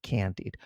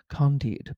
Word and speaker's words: Candide: There's a very famous radio station where they had an announcer say, "And that was the overture to Candide, not Candide, Candide by Leonard Bernstein."